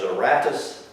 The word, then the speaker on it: Aratus: His name was Aratus, A-R-A-T-U-S.